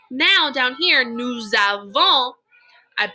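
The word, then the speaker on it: nous avons: with those vowel sounds since the next word starts with a vowel sound we it's called a liaison we liaise those words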